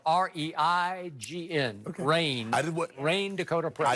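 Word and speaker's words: Reign: And it's spelled R-E-I-G-N. Rain.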